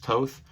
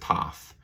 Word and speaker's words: Toth: that's drawn by alex toth i know the last name is pronounced toth but for some reason i said toff and i had a